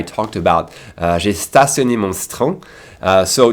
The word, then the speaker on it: citron: And what's also interesting is that in terms of pronunciation, what makes it hard to get is that we would never skip that I in citron. We skip a lot of letters and syllables, but not that I.